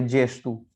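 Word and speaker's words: gesto: अब यहाँ पे जी और ई, जब और जी और या गे और ए जो पुर्तगाली में साथ में आएंगे तो उनका उच्चारण होगा जे, है ना।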